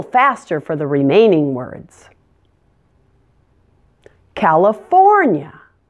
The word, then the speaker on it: California: the remaining words California make sure to stress for California really stretch it out and make sure the first eye is pronounced as a schwa sound it's not Callie it's Cal uh California and the ending is a little unusual - it sounds like yeah yeah California Colorado stress is